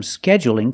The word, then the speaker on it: scheduling: a dark L but when I say scheduling is it dark or light that's right it's light because the L is between vowels scheduling so you can say